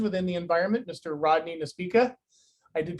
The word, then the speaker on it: Nespeca: Rodney Nespeca. I did pronounce that correctly? Nespeca.